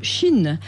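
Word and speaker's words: Shein: Moi aussi je disais Shine, mais c'est Chine, c'est le géant chinois de la fast fassion. D'accord. Ça s'écrit S H E I N.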